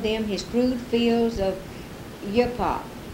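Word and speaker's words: uppowoc: his crude fields of hip-hop repeat that word as the indians with the accent on the last syllable and it sounds a little like tobacco it was tobacco it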